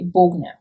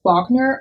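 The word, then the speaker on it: Bogner: brand is pronounced but just for me as a german native speaker looking at the name i would say bogne i've heard it pronounced wagner on the american market i'm pretty sure that's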